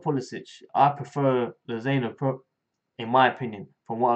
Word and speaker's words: Lozano: And recent rumours, PSV Lozano, that's how you pronounce his name, he's actually 4 days younger than me.